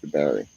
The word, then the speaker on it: Jabari: It's actually pronounced Jabari. That's how they would say it in Africa because that's how they would read it. They always said Jabari.